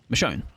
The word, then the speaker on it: Michonne: It's pronounced Michonne rather than Michon.